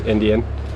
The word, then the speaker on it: NDN: I run a little blog because I've got a company myself, the NDN, like 3 letters, but it's pronounced Indian, and use them online for that.